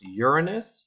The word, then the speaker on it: Uranus: the outer planets with their Jupiter Saturn its Uranus is the correct pronunciation of the planet Uranus it doesn't help